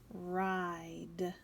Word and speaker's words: ride: our word wall and that word is ride notice the eye is long because of that silent e the Bible told us